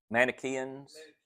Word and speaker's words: Manichaeans: One of them was, how do you pronounce it, Steve? Manichaeans.